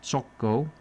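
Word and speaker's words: Txoko: polished mirrors and worn tile fls and bar choko or pronounced chco.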